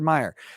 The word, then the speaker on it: Meyer: Comicsgate people such as, Ethan Van Sciver and Richard C. Myers. It's just Meyer.